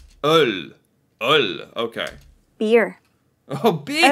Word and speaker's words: øl: How do you pronounce this O? Ul? Ol? Öl. Öl.